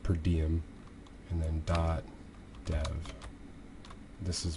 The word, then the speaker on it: PRDM: It's actually pronounced per diem, and then .dev.